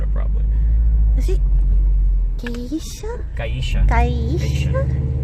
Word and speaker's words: Geisha: And then in Spanish, the accent is over the second to last syllable, so it's Gaisha.